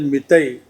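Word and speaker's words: Meitei: That, as you all know, there are a number of tribes in Manipur, but tribe known as Mitai, I think that is the correct pronunciation.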